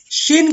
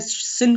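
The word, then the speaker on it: שין: शिन का जो sound है वो श का साउंड देता है प्रिय अजीजों।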